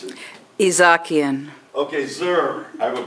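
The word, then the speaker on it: Izhakian: Okay, this is, how do you pronounce it? Izakian.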